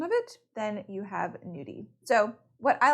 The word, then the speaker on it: gnudi: cooking is something called new D the G is silent and it actually means